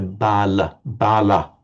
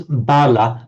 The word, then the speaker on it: bala: in northern Indian pronunciation, you hear bala with more of an ah sound, whereas the Sinhala speakers would pronounce it, Srinamala, pronounce bala, but in a Sri Lankan way.